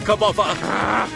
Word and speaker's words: Kirbopher: Perhaps things were fated to be this way, Squire Kirbopher.